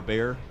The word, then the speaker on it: Bexar: So is that Bexer or is that Behar? You know what? That may be Behar or Bear. Bear? Yeah, I think. Like the county? Yeah, like county. It's spelled Bexar.